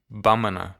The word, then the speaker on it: Bamana: A primary one, perhaps the most widely spoken, is the Bambara language. Pronounced Bamana in their language.